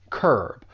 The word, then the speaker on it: curb: There's just one syllable, curb. But that U has more of an vowel sound, curb, to curb something.